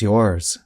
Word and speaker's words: yours: But notice that the S at the end sounds like the letter Z. Yours. If you listen carefully, you can hear a bit of the sound of the letter S at the end of a word like yours.